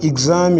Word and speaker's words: exam: to transcription that means for example exam is to be transcribed with this e z then we have a and then we have um so we have exam that means x here has re and z so both sounds are encapsulated in letter x so we have exam